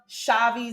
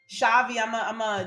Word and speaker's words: Chhavi: Love Shavi Zane. Shavi, this is gonna be a little harder.